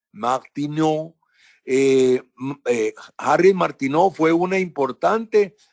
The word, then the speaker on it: Martineau: Eso es importante también, que yo le mencioné que Harriet Martineau, se escribe H-A-R-R-I-E-T, Harriet Martineau, Martineau en francés, Martineau.